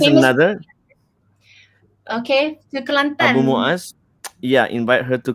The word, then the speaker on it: Kelantan: another, Okay, to Abu Kelantan. Muaz. Yeah, invite her to Kelantan. Klate, we mention it. We pronounce it in Klate.